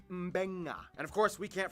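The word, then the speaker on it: Beqa: makes the nd sound, B makes the mb sound. Both Q and G make the ng sound. Therefore, the town of Nadi is actually pronounced Nandi. And this word is pronounced Mbenga.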